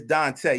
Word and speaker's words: Dante: your last name Dante it's Dante yeah with an accent oh my dad did